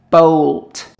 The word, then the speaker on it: bolt: Tools and Gardening tape measure hammer vice vice file ladder hacksaw saw screwdriver not toolbox bolt remember this letter O pronounce o Bolt screw nail drill ax